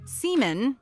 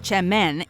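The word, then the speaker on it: Çemen: Spelled with a C, semen, pronounced Chemmen, is in reality a popular type of dip or spread that hails from Turkey.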